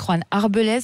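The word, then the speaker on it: Juan Arbelaez: Alors vous êtes donc l'un des 2 chefs de cette nouvelle émission avec Juan Arbelez, je le prononce bien ? Oui, c'est ça, c'est pas mal.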